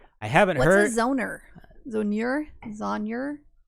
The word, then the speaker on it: zonure: What's a zoner? Zonure? It's a fucking map. Well, no, but usually it's an animal of some sort and it's their skin. Zoner rhymes with boner skin maps.